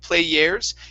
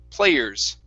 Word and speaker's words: players: was just fine but you were saying an air sound play yeah instead of players it's play er players players players players there you go yeah more of an er sound okay um all right